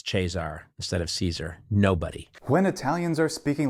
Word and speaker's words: Caesar: pronunciation he is gar in the Italian ecclesiastical pronunciation he is chesar chesar no one ever said chesar no one says chesar instead of Caesar nobody when Italians are speaking Latin they do